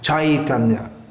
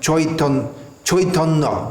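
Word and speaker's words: Caitanya: Actually, when we see AI in Sanskrit, that should be pronounced something like I, as in the word I, E-Y-E. So it should be pronounced Chaitanya. In Bengali it's pronounced Chaitanya, but there's no need to imitate that by non-Bengalis.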